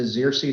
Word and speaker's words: Xerces: the xerxes society um it is pronounced the zirsi society i've had people come up and i think half jokingly say are you the exorcist society um but we are the xerxes society and we're named